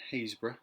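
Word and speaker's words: Happisburgh: um which were in hazra that's how you spell it in nor how you say it in Norfolk um so we're also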